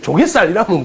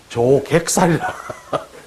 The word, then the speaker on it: 조객살: 여기 이거를 발음을 잘 하셔야 됩니다. 형님 이거를 잘 하셔야 돼요. 이거를 조갯살이라면 큰일 납니다. 조객살이라.